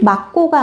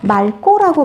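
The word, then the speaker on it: 맑고: 근데 하늘이 막고가 아니고 말고라고 발음해야겠죠? 왜?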